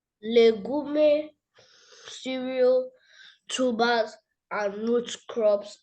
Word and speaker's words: legume: Legume, cereals, tubers and root crops are all sorry. Come with the come again with the question. Legume cereal, tubas and root crops are all okay.